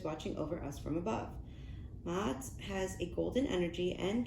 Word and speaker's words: Ma'at: Ma'at, pronounced Ma'at, is an ancient Egyptian deity associated with truth, harmony, and balance.